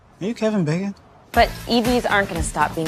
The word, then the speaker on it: EV: Actually, it's an EV. Rhymes with Kev.